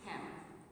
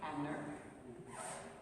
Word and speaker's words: Hamner: We had a press release to come out in January from Hammer. Am I saying that right? Is it Hammer or Hammer? Hamner. Somebody told me I said it wrong.